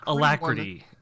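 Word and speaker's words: Alacritty: Alacrity? Alacrity? Yeah, sure. Alacrity.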